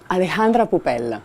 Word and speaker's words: Alejandra Poupel: Bonjour, comment tu prononces Alexandra? Alejandra Pupel. Alejandra Pupel.